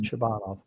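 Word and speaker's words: Shabanov: Shabbanov.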